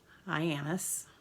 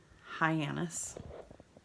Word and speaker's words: Hyannis: Found out from a waiter that it's pronounced Hyannis. Hyannis. Right? Hyannis. Ann. Ann. It's got an Ann.